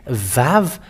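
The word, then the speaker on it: ו: let's show it but the letter VAV is V indeed we can see it it is bigger on the screen VAV it is pronounced as V and it's in the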